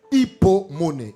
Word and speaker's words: hypomoné: Le mot persévéré vient du terme grecomon hypomon pour mieux prononcer hypomon hypomoné hypocomme hypotension hypoglycémie hypesour et mon cela